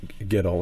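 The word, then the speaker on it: Giddle: function of the book, like Ronnie and like Giddel, if I'm pronouncing that right.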